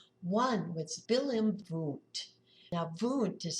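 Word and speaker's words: Wundt: Now vent is spelled w n dt who you might have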